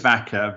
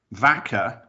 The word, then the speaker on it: Väcka: It doesn't spell the same, because it's just Vaca in Spanish, but it's the pronunciation is the same.